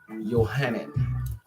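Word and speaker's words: Johanan: 200 300 years so the name john it wasn't pronounced like that because john jay didn't exist j could be and i or a y and it can be pronounced as y or i so the name was johannen and i'm reading from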